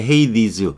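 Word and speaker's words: Hades: 종종 부르는 게 헤이디즈. 우리가 볼 때는 그리스 신화에서 하데스의 강 이렇게 얘기도 하는데 이 하데스는 영어 발음은 헤이디즈 이렇게 발음할 거예요.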